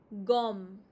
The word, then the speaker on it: gomme: gomme gomme The last E is always silent, muted, so you stop at the consonant.